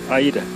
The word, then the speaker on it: Aida: Aida.